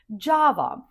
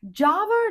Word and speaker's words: Java: Java. Java, just like the coffee. Java with the stress on the first syllable. And J, just like in jam or jacket.